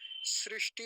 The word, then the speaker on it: सृष्टि: बोलेंगे ना ऐसे लिखेंगे सृष्टि होता है श्री सृष्टि और बीच में मूर्धन्य सकार होता है तो इसका भी उच्चारण अच्छे से करेंगे सृष्टि और आगे क्या